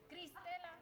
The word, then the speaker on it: Cristela: Christella. Did I say it right? Did I? Oh, I always try to say people's names. Christella. S.A. You gotta say it like my mom says it. Cristela.